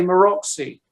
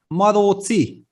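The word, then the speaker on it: Maróczy: I mean, of course, yeah, Hungarian names are so difficult to pronounce, so it's understandable that it's not going the way how it should be. But the right one is Maroci. Yeah, Maroci.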